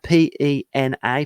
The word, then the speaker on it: Pena: It's Dan, D-A-N, Pena, P-E-N-A, pronounced Pena.